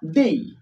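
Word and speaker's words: they: কিন্তু ব্যবহার করি ইট মানে ইহা তারপর আছে দে দে মানে তারা দেই আসলে এটা যদি আমরা দে উচ্চারণ করি কিন্তু প্রোনাউন্সিয়েশন হবে দেই উচ্চারণ কি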